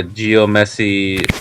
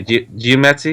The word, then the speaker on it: geomancy: I think the metagame is really dominated by Geomancy. That's how you say Geomancy. Yeah, How you pronounce it?